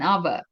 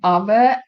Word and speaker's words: hour: For example, “an hour”. Can you hear the “h” here? No. Because “h” is silent. For example,' " an hour", " an honor", "an